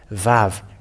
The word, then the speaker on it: vav: that araman has the pronounced the word VAV V A V and